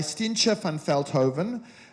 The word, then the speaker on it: Stientje van Veldhoven: to be moderated by Stientje van Veldhoven. My Dutch heritage gets me to pronounce that almost perfectly.